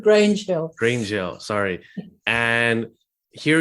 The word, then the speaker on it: Grange Hill: 30 years, and it's called Grunge Hill, if I'm pronouncing it right. It's called Grange Hill.